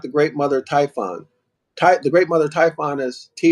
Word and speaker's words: Typhon: The great Mother Typhoon, Typhoon, however pronounced Typhon, also called the old woman.